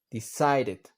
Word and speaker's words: decided: Lo mismo con decide. Decided.